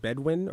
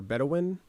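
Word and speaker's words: Bedouin: But then the bedw how do you pronounce it? Bedwin or bedawin. Bedwin. Yeah. Bedwin. Both is fine.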